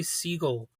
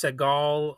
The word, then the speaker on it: Ty Segall: And his name is Tai Seagull. So, I don't know if it's pronounced seagal or seagull. I'm just going to pronounce it like the bird.